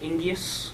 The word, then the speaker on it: Ingeus: So Ingeus, sometimes by our clients pronounced Ingeus or Igneus, but definitely Ingeus and previously work directions.